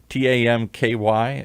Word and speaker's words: Tam Ky: And you say it so quickly, and I'm going to say it in an Americanized version. Is it Tam Ky? Tamky?